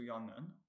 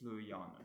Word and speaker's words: sløjaanen: So it's not going to be nun, it's not going to be sluyanen. We're going to move left one. The syllable ya contains a double vowel, it's got that double A, so it's stressed. So therefore, it's sluyanen.